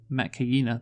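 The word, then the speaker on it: Metkayina: Apparently, the fucking Met Kaina, there we go, I said it right that time, don't get it, do they?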